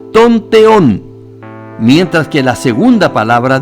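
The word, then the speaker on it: τὸν θεόν: palabra Dios precedida por el artículo definido se pronuncia tonteón mientras que la segunda Palabra de Dios sin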